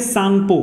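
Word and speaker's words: Tsangpo: माने क्या होता है, एक्चुअली में टी साइलेंट होता है, इसको लिखना चाहिए सांगपो, क्या होता है सांगपो,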